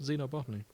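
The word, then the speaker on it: xenobotanist: xob botanist Xeno botanist I never know if I should pronounce X as a sh or a z yeah so this x comes from Latin so uh yes so it's an a Xeno botony You' but you've just pronounced it with a zed yeah that's how it's pronounced Zeno boty then why isn't it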